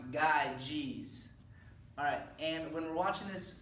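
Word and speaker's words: Gyges: a video on the ring of guide jeans pronounced guide jeez alright and when watching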